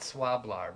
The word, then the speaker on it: Swlabr: into a piece that it's hard to pronounce it's it's spelled s-w-l-a-b-r i call it swab-lar but uh and and